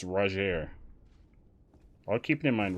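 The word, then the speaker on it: Rogier: keep it in mind rajier is r-o-g-i-e-r i was pronouncing it reuter but apparently it's roger i'll keep it in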